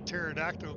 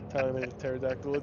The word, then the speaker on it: pterodactyl: can't you hear a pterodactyl go to the bathroom oh boy cuz the p is silent yes the P pterodactyl pterodactyl is technically not